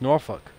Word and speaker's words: Norfolk: The proper way to say Norfolk is Norfolk. I've seen something.